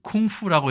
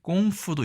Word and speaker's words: 功夫: 중국에서는 우리가 그 쿵푸라고 얘기하는 이 꽁푸도 있습니다. 이것도 발음이 거의 똑같은데요.